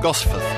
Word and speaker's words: Gosforth: He knows where I live, but he can't pronounce it properly. Gosforth, my friend.